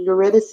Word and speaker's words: Eurydice: It was kind of like Euripides or Orpheus and Eurydice, I think is how you say that, mixed with Dante's Inferno.